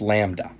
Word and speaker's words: lambda: PI symbol I've guaranteed that but you would pronounce this lambda ok so we have a lambda equal to